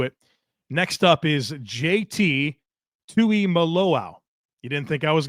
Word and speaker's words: Tuimoloa: Tui Malo out of Ohio State.